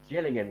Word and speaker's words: Gillingham: it was 0, pronounced Gilliam. Bromley 1. Gillingham, you knob. You know, it's not. I always thought it was That's Gilliam. not who that is.